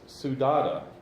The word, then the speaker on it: saudade: It's saudade. And I've listened to it 20 times. I think that's exactly how you pronounce it.